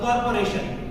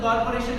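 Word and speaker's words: corporation: हम बोलते हैं कॉर्पोरेशन, इसमें अगर आर आ रहा है बीच में, अगर आपको आर को प्रोनाउंसिएट कर रहे हो तो ये आपका अमेरिकन इंग्लिश है। ब्रिटिश इंग्लिश में बीच में कहीं पर भी आ रहा है तो उसको साइलेंट कर देते हैं। कॉर्पोरेशन, डेवलपमेंट, बहुत सारे शब्द बीच में जहां पर भी आपको आर मिल रहा है तो उसको हम साइलेंट करते हैं।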